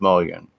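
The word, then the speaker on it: mullein: my garden right now along with mullin or mullion it's pronounced million eat oatmeal yeah that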